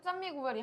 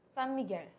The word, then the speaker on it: San Miguel: 많이 마시고 근데 사실 산미구엘이 한국에서는 산미구엘 이렇게 말을 하는데 본토 발음으로 하면 산미겔 산미겔 겔 페이너 식으로 읽어야 되거든 어찌됐건 오늘 또 필리핀